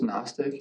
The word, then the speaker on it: Gnostic: it's not agnostic it's Gnostic right an agnostic is somebody that says I don't know if God exists it means not knowing gnostics with a G GN the g is silent g n o s